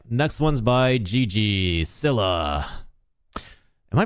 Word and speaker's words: Scylla: Skyla. Skyla, never mind. Yeah, I was saying it wrong. Skyla.